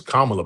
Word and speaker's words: Kamala: Her name is Kamala, by By way.